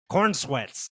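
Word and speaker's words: Corenswet: Yep, Cornsweets.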